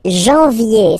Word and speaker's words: janvier: But anyway, janvier, so that's the way to pronounce it. Janvier, A-N, an, okay, and then yé, yé, yé, janvier.